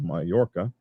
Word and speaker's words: Mallorca: Spanish holiday island of Mallorca oh this they spell it a whole different way here m-a-l-l and I think that gives you the yeah sound in Spanish uh but I don't